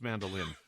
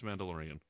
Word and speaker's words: Mandalorian: Sorry, it's pronounced mandolin. With even an IAN? Yeah, it's just pronounced mandolin. Okay, let me start that over. We're going to do a special here today, and we're going to cover the mandolin. I'm just kidding. It's Mandalorian.